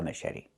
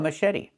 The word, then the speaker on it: machete: The ch makes a soft sh sound like in fish. Mh. And then eddie. The t makes a fast d.